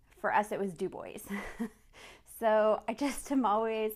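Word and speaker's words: Dubois: that's D du right for us it was do boys so I just am always like I don't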